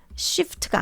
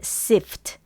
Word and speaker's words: sift: 이거는 shift가 아니에요. 발음이 아니라 shift는 바꾸다 뭐 이런 뜻인데 sift 이렇게 발음으로 자연스럽게 좀 가볍게 해주시면 되겠습니다.